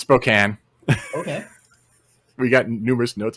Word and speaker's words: Spokane: we got notes on how we pronounced spokane wrong oh okay oh because we pronounced it spokane i was pronouncing spokane yeah it's spokane okay we got numerous